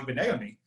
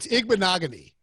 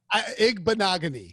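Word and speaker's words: Igbinoghene: picks, they drafted Noah Igbenegami, whose name I mangle every time I say it. It's Igbenogany. Igbenogamy? Igbenogany. Like rhymes with monogamy.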